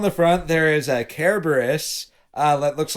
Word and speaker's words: Cerberus: Cerberus. Cerberus, because it's a hard C in Greek.